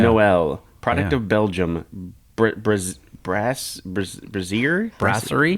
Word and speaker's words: Brasserie: Brasserie? Brasserie? I think. Not Brazier, that's funny. I don't think it's Brazier. I don't think it's Brazier either. No, Brasserie I don't think so either, but...